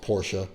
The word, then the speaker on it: Porsche: Yes, it's pronounced Porsche.